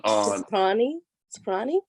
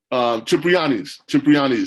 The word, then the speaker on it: Cipriani: at he was eating at that place on Soprani? Cipriani's.